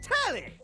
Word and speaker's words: Telly: The name's Telly. Rhymes with Nelly. Like, whoa, Nelly.